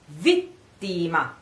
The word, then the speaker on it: vittima: So you say come vittima. Vittima. Vittima. Again, you have a double here. It's a double T.